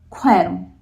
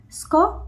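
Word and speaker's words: skärm: a so for example when you are using sk like s k r mm so e is a soft vowel so it is like quirm sk so it will become quirm instead of score it will be co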